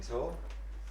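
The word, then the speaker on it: Taal: Is that tall or tall? T-double-A-L, but it's pronounced tall.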